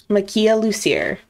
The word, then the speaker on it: Makia Lucier: So her name is, I went back to look up because I saved the phonetic, how to say her name phonetically. Good thinking. Makia Lucier.